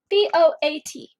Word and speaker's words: boat: B-O-A-T. Where are my vowels? O and A. Any guardians? No. Which vowel is long and which vowel is silent? The A is silent, the O is long.